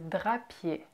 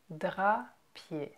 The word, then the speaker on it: Drapier: Next is Drapier. Drapier. Drapier. Again with the ER at the end that you where you don't pronounce the R. It's just Drapier.